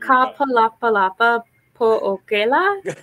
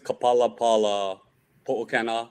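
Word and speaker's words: Ka Palapala Poʻokela: Could you give me the correct pronunciation? I'm sure it's beautiful when I'm not saying it. Shoot, what is it? It's the Ka Palapala Po'okela Awards. Yes, that is a gorgeous how you should say it.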